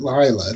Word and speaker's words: Leila: Lauren Lee Smith played Leela, but they pronounced it Lila, didn't they? Yes, with Lila. Yes. Yeah. But they spell it Leila, which I'd always pronounce.